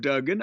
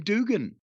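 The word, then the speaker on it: Duggan: got down there and I heard everybody else call him Dugen I heard all of his friends call him Doug I heard him call himself Dugen but watts would call him Dugan I I it's a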